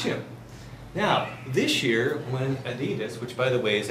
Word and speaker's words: Adidas: now this year when Adidas which by the way is actually pronounced Adidas if you're German when you uh look